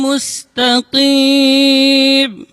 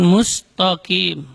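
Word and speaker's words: مستقيم: Di sini juga sering terjadi keliru ketika pengucapan mustaqim. Itu tidak boleh dibaca tebal di situ. Bukan mustaqim, tapi musta. Itu ta-nya tipis. Kemudian huruf qaf dibaca dari aqsal lisan, di pangkal lidah.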